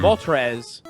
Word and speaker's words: Moltres: spend a lot of time thinking about Articuno, Moltres, and Zapdos. Well, Yeah. they don't, especially Articuno. It doesn't wear that number on Front Street. Yeah, especially because, like, Zapdos, really out there with the dose. Mhm. Moltres is how I pronounce Moltres, and Trez is